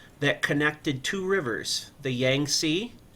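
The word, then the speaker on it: Yangtze: the Grand Canal that connected Two Rivers the Yang SE y a n g t z e and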